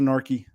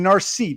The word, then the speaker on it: narky: Unless you don't want to come around because I'm just a narky. I hate that, narky. It should be narcy. The C is pronounced like it's narcissus.